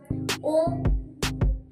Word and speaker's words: ओम: ओम, अ, उ और म यह नाभि, हृदय और आज्ञा चक्र को जगाता है।